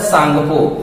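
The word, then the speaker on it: Tsangpo: है ब्रह्मपुत्र नहीं होता, इसका नाम होता है सांगपो। टी सांगपो, टी जहां पे साइलेंट होता है तो इसको हम बोलते हैं कि तिब्बत में इसका नाम क्या है?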